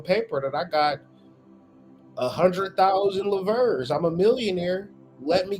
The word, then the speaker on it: livres: That's how you pronounce it. Livres.